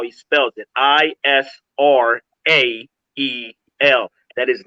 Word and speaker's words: Israel: So his pronunciation is off because his wicked masters that gave this word to him, they flipped the A and the E.